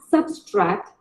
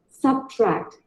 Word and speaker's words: subtract: It is not subtract, it is subtract. Subtract. Subtract.